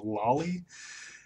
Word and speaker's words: loli: described on how like personally I believe pronouncing it lowly is more proper because lowly is like a shorter version of lolicon whereas Lali is just like seems like a shorter version of lollipop I don't I don't